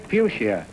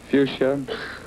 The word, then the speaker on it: fuchsia: Spell the word fuchsia, meaning a plant with red, pink, white, or purple drooping four-petal flowers. Pronounce it. Fuchsia.